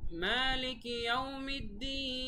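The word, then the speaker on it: مالك يوم الدين: মালিকি, এখানে এক আলিফ টান মা, তারপরে ইয়াউমিদ্দিন, এটা তো আগেই বলেছি প্রত্যেকটা আয়াতের শেষেই 3 আলিফ টান।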